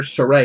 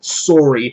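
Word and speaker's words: Sorey: you got um the main character Sur thank God that's how you pronounce it this whole time I thought it was going to be Sor I would refuse refuse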